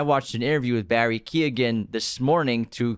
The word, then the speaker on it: Keoghan: So he pronounces it with Keoghan. He even says, I may have been pronouncing it wrong my entire life, but the G is in there. So that's how Barry Keoghan says his name, even though the rest of